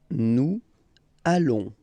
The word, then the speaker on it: nous allons: Nous allons. Final S not pronounced.